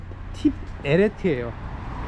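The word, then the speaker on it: תפארת: 이것은 이제 지혜를 나타내고, 세 번째가 이제 비나, 이건 지성이고, 그 다음에 네 번째가 티페레트라고 하는데, 정확한 발음은 팁에레트예요. 팁이 한 음절이기 때문에 티페라고 두 음줄로 나누면 안 돼요.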